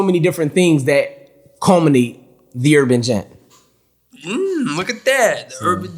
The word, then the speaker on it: The Urban Gent: Goddamn, I call him the Urban Agent. I felt stupid. Nah, man. Listen, I've been called that name numerous times. A lot of guys be like, hey, yo, is it, how do you pronounce it? The Urban Gent.